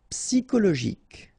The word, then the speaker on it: psychologique: Psychologique. Okay, remember it's an exception here because you've got this C-H-O. Normally we should pronounce it sho, okay, but in that case we pronounce it ko.